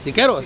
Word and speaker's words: Siqueros: Se pronuncia, Siqueros.